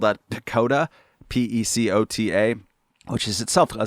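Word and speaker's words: PECOTA: called i forget what the acronym is but it's spelled out pakoda p-e-c-o-t-a which is itself a somewhat weird name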